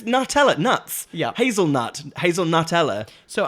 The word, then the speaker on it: Nutella: think of new metal you Rave but it's Nutella nuts hazelnut Hazel Nutella so Hazel n we